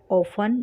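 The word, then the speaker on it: often: अब देखते हैं हाउ ऑफन, यहाँ पर टी साइलेंट रहेगा, टी को हमको ऑफ्टन नहीं बोलना है, इसको टी साइलेंट रहेगा, ठीक है।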